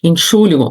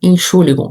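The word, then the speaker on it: Entschuldigung: Inxuligon. Então aprende essa palavra. Se você vou, por exemplo, numa padaria, as pessoas estiverem conversando, diga enchuligon.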